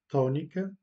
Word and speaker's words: tónica: Dans des syllabes accentuées, on dit que la voyelle est tonique ou en portugais tónica. Remarquez que on accentue la première syllabe là où est l'accent, tónica.